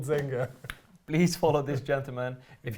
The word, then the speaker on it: Zenga: did better uh zenya Zenga Z I wish it was Zen unfortunately it's a humbl Zenga please follow this gentleman